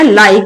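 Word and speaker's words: like: ई क्या है, यहाँ पे साइलेंट है। तो जैसे क्या बनाया, लाइक, इधर भी लास्ट में ई है, गिव, मेक।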